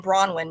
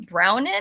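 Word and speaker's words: Bronwyn: for her and then bronwin means white breasted or Fair that's BR that's like the one easy to pronounce Welsh name and people still get it wrong and they're like brownin I'm like you're dyslexic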